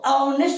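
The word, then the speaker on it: honest: अच्छा आगे एच है तो ऑनेस्ट होता है कि नेस्ट होता है एच साइलेंट है नेस्ट होता है अ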